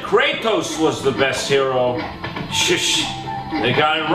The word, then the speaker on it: gyro: He's going to get a gyro, although it's technically pronounced hero. Although I still wanna call it a gyro, cause it sounds cooler.